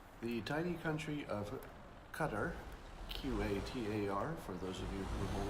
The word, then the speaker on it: Qatar: The tiny country of Qatar, Q-A-T-A-R, for those of you who have only read the word and wondered how to pronounce it.